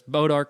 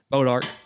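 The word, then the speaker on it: Bois d'Arc: type of wood, but it's Bodark in Northeast Texas, what we call this thing, and it's spelled like Bois D Arc. So B-O-I-S. I got you. Little apostrophe thing, D and the arc, whatever.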